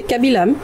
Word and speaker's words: Kabilam: Je ne sais pas si je le dis bien. Mamie Sam, c'est Lam? C'est ça, Lam, exactement. C'est bien prononcé, Kabilam.